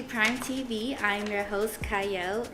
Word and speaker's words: Qiayel: I'm your host, Qiayel. It is spelled with a Q, but it's pronounced Qiayel.